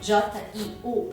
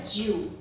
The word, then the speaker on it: jiu: O segundo som é o O escondido na final I-U. Esse som I-U da palavra, por exemplo, 9, J-I-U, não é Jiu, e sim Jiu. É como se você estivesse falando J-I-O-U. Jiu. Esse O tá escondido. Na hora de falar, você pronuncia, mas na hora de escrever, não tem esse O.